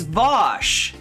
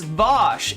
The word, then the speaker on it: Vaush: other hashtags you could use right and it's vosh it's vosh and the voshites who are dragging this thing